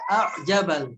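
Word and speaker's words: أَعْجَبَ: Selain itu, setelah kata ghaitsin ada a'jabal kufa. Nah, di sana ada hamzah bertemu dengan ain, maka cara bacanya hamzahnya dijelaskan a'jaba, a'jaba, jangan a'jaba, a'jaba, gitu ya.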